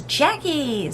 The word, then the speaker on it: Jacqie: If you're new here, my name is Jacqie, spelled with a Q, pronounced like it's spelled with a K.